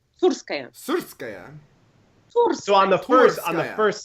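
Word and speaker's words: Tsurskaya: So on the Turskaya. first syllable, Yeah.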